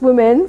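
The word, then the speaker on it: womxn: the the x um it still pronounced women some people are tripping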